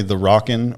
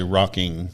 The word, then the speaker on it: Rockin: when I pronounce it do I say The Rockin or do USA rocking there's no G I know every time I do I write something unless she goes no G that's important because if